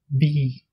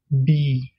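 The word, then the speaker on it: bí: Le deuxième mot, pour dire être en irlandais, on prononce be. On dit be.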